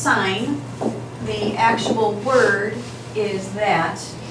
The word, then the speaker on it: sin: and we have our 5° angle is it sin or sign it's pronounced sign the actual word is that and we abbreviate